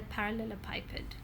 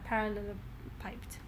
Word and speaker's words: parallelepiped: or as it's called, a parallelepiped, or a parallelepiped, different pronunciations.